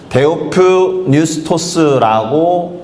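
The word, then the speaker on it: theopneustos: 데오프뉴스토스라고 읽혀지는데요. 데오라는 말은 하나님이란 뜻이에요. 그리고 푸뉴라는 단어는 푸뉴마에서 왔거든요. 푸뉴마가 성령이란 뜻입니다.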